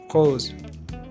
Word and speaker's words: rose: We produce this sound when the S is in the middle of a word. For example, maison, rose.